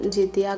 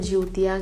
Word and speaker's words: जितिया: बिहार में तो हम इसे जितिया ही कहते हैं, बाकी मुझे लगता है कि यूपी में ज्योतिया कहते हैं शायद, बट हम लोग इसे जितिया ही प्रोनाउंस करते हैं।